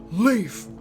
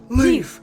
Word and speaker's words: Leif: whopping 500 years yo everybody say leaf leaf leaf leaf when anybody out